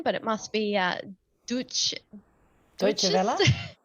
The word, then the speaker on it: Deutsche Welle: ABC Radio National, The Saturday Paper, forgive my mispronunciation, but it must be Deutsche Welle. Deutsche Welle, thank you.